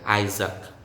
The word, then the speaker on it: Isaac: next isaac isaac isaac one letter a is silent isaac then the s is